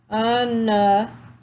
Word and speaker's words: onomatopoeia: Let's sound it out. Onomatopoeia. Oh, the O is silent.